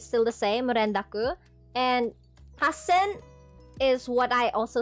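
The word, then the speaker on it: 八千: the same renaku and hassen is what I also said about the renaku. There is a double double consonant right there. So that is why it's hassen and um that's that's how it is.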